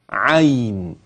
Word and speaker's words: عين: يحتاج الى بيان فاقول عين وقبل ان اكتب اسمعك الصوت مره ثانيه عين لان كثير ينطقون عين عي اصبحت الياء مديه لكن ياء عين لينه الياء على اقسام يا